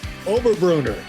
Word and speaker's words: Oberbrunner: I'm talking with Oberbrunner. Did I pronounce that right?